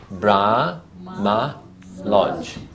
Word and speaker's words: Brahma Lodge: Listen, Brahma Lodge. No, 3. Very good. Very good, Betty. 3. So it's Brahma Lodge.